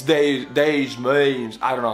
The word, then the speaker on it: Des Moines: Dustin, you're from Des Moines, Iowa. I know it's not Des Moines, it's Des Moines.